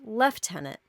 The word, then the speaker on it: lieutenant: We say lieutenant, but the British pronunciation is actually left tenant.